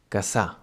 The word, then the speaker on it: Cassà: In this case, it sounds like a normal S, but, well, maybe a bit longer.